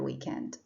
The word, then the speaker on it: weekend: school on these days remember that weekend and weekday have the stress on the first syllable week that's why it